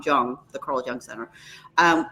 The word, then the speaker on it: Jung: there's young centers and it's spelled Ju in because he's German Jong Jong the Carl Jung Center